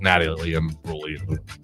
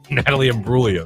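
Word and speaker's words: Natalie Imbruglia: that video I was like, "Oh, I want to date this Natalie Brolio." Who? Natalie Bruia. That's how you say it.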